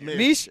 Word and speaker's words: Mish: I'm saying Mish. it right? It's pronounced Mish. Michigan. Mish, yes.